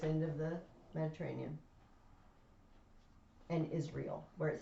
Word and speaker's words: Israel: spelled i-s-r-e-a-o a-e-l israel but we say israel don't we say it like you spelled it it is real it is real okay